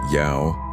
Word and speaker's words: Yeo: Elias Yo, pronounced like yao, sharp and impatient the way his Korean grandmother once snapped it.